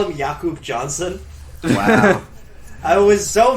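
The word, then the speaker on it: Jakob: __ ] you not it is pronounced like Yak oh that's awesome is they call him yakob Johnson wow I was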